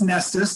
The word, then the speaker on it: Knestis: last thing is pronounced nestus don't let you get thrown by the silent k you see it in